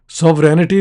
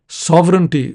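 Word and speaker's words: sovereignty: हमारी कोशिश होनी चाहिए कि दोनों मुल्कों की आज़ादी, उनकी सॉवरेंटी, अच्छा लफ्ज़ सॉवरेनिटी नहीं है, जो भी बोलता है गलत बोलता है, the correct pronunciation is सॉवरेंटी।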